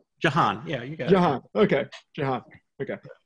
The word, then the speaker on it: Jehan: yeah yeah uh did am i saying your name wrong jahan yeah you guys okay okay sorry um yeah